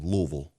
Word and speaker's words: Louisville: notice my proper pronunciation Louisville Louisville sounds like I got marbles in my mouth Louisville Louisville Kentucky Louisville